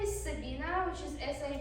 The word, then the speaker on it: Sabina: in grade 10A and my first name is Sabina which is sa b a i n a